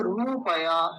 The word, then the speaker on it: रुपया: रुपया नहीं तो वो अगर ऐसा लगा देते ना तो क्या होते रूपया तब उसको रूपया बोलते लेकिन वो छोटा होता है तो क्या बोलते हैं रुपया रुपए रुपए ले आओ ठीक है यह वाला गलत है यह वाला ठीक है या आ लगा दीजिए रुपया जल्दी बोला जाता है लंबा नहीं खींच क्योंकि छोटा उ होता है उसमें अब और देखिए तो